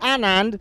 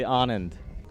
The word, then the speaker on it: Anand: He's like, Anand, but it's actually Anand.